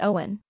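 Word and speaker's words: Eoin: yet another Irish name is pronounced Owen yes just like the common English name Owen name 10 Ashling finally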